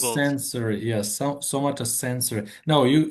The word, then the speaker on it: somatosensory: Well, except for somatosensory cortex, which somatosensory.